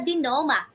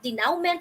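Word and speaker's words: denouement: the resolution or the dinoma okay this is how you pronounce this word dear wonders di noma not denounment or denoment okay so this actually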